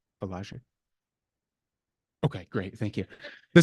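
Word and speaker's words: Wieliczka: Walajic.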